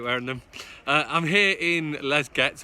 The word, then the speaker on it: Les Gets: them I'm here in Les Gets or Lachey's you're supposed to pronounce it and the next question